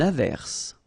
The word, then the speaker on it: averse: S is pronounced. The E is not pronounced.